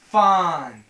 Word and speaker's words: Fandango: It's Fandango.